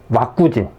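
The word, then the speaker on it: ワクチン: 왁구진. 백신을 읽으면요, 왁구진으로 읽습니다. 일본어로.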